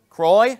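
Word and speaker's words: Croix: the Rose some French thing that I can't pronounce somebody help me out c r o i ex Cy Croy okay thank you uh I don't know French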